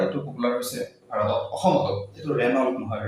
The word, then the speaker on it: Renault: popular হইছে আর অখমত Rennell মনে হয় রেনল এজন্য নাম রেনল ফ্রেঞ্চ নেইম ফ্রেঞ্চ পড়া শব্দ এটু রেনল না হয়